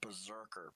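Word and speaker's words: BRZRKR: It's called Berserker. It's spelled B-R-Z-R-K-R.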